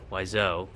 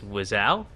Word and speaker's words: Wiseau: mispronunciation of his name i always thought it was wiseau but it's wizal all right interesting i